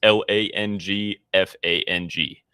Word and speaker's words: Langfang: No, it's Langfang.